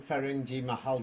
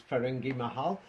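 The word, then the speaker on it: Firangi Mahal: Ferengi Mahal, you pronounced it, but it's Ferengi Mahal.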